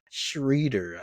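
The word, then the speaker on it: Schröder: jiren Jackson Jr Dennis shreder schroer Dennis schroer schroer because I think I've heard schroer shreder I've heard a couple different I'm pretty sure everyone pronounce his schroer so I'm just call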